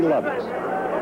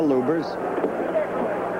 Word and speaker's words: Lubbers: Indonesia muhammad Ali against Rudy Lovers or Lubers it's pronounced both ways lubers is probably more technically correct anyway it's the way Rudy wants it said see how Lubers keeps